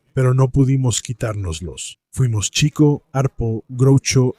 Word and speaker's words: Chico: Sí, es Chico, porque Leonard, su hermano, escribe que él perseguía a las chicas, a pesar de la ortografía final. Si lo llamabas Chico Marx, lo estabas pronunciando mal.